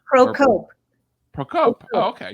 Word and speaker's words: Procope: Are you pronounced or? It's actually. Procope? Procope.